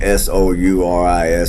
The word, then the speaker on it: Souris River: Souris, I can't pronounce that shit. I mean, Souris, don't mean to be disrespectful, but forgive me, I can't pronounce it.